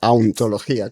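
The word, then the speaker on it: hauntología: Hay una palabra espectacular que es ontología, pero pronunciado auntología.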